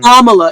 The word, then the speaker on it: Kamala: Lefty um that's voting for Kamala right um Kamala it's Kamala you say her name right kist